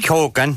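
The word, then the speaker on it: Keoghan: the men really served it up um Barry Keegan or kogan kogan yes and not pronounce here properly uh elocution coming that's his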